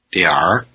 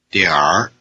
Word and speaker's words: 点儿: Repeat both versions after the speaker and notice that the northern pronunciation has a different vowel as well as having an R at the end instead of an N. 点点儿点点儿 Used here it means "some".